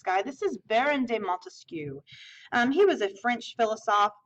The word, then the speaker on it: Montesquieu: Montesquieu has 3 syllables, just like separate has 3 syllables, okay?